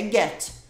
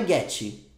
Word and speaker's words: get: mais inventado em inglês quando uma palavra acaba em consoante ela realmente acaba em consoante então a palavra própria a própria palavra get se eu fosse falar só ela é get não é guet guet com i no final é get acaba no